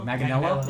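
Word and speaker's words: Manganiello: last name all right how do you pronounce it magelo mag magel Magano yeah there you go Joe Magano might be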